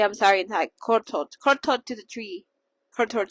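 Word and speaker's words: ขอโทษ: So like maybe kortot? Let me check. Do. Yeah, kortot. My Thai teacher will kill me. Pero yeah, that's how you say I'm sorry in Thai. Kortot.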